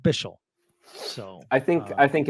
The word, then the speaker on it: Bichsel: Debate at the moment how should we pronounce bishell does he have a preference I love that we've seen from him this pre preseason thanks y'all so we've went over it Chris but it's still a great question and uh I think we're going with bishell so I think I